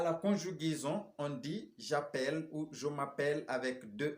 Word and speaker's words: j'appelle: Pour pouvoir ouvrir ce E et prononcer à la fin j'appelle, tu appelles, il appelle, elle appelle, on appelle. Mais à la première personne du pluriel, on va dire nous appelons. Donc le E est fermé.